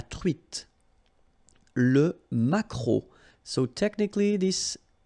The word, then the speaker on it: truite: nose, nasal, on, espadon, la truite, same thing here, final E not pronounced, t, la truite, le maquereau.